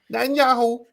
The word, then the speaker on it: Netanyahu: How do you pronounce his last name? Netanyahu.